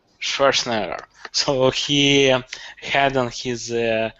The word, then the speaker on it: Schwarzenegger: How do you pronounce his family name? Schwarzenegger. Schwarzenegger.